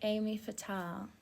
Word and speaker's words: Aimée Fatale: You pronounce my name like Amy Fatal.